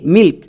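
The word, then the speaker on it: milk: এখানে কিন্তু এল এর উচ্চারণ হবে। তাই এল এর জন্য লো। কে কে এর জন্য কো। তাহলে এই ওয়ার্ডের উচ্চারণ দাড়ালো এম আই এল কে মিল্ক।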